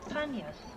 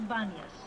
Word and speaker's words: Banias: This gave the name to the site Panias, which was later changed by the Arab pronunciation to Banias.